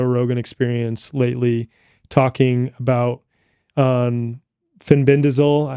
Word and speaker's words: fenbendazole: For example, Mel Gibson was just on Joe Rogan Experience lately talking about fenbendazole. How do you pronounce that? Fenbendazole?